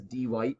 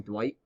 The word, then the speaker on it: Dwight: podcast about it, and Jim always says D. White instead of saying Dwight.